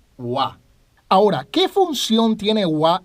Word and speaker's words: は: como ya hemos mencionado aunque se escribe con el jira gana y cuando se usa como partícula se pronuncia guau ahora qué función tiene